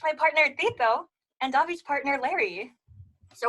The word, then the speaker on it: Tito: My name's, I go by Tito. You know, it rhymes with Cheeto and burrito.